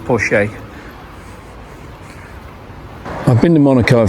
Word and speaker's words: Porsche: I didn't get to see the Bentley sat there waiting for me, or the Porsche, or the other Porsche, which is actually pronounced Porsche.